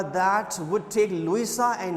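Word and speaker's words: Luisa: मैं टिकट खरीद सकता था, दैट वुड टेक लुइसा, इधर प्रोनाउंसिएशन इज लुइसा, जो मैं टिकट्स खरीद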